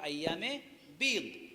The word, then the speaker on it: আইয়ামে বীদ: এই 13, 14, 15 রোজাকে আইয়ামে বীদ বলা হয়, যাকে বাংলায় লেখা হয় আইয়ামে বীজ। তো শব্দের উচ্চারণ হলো আইয়ামে বীদ।